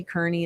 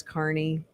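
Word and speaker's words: Kearney: spelled like karney so don't say karney it's Carney yeah I don't know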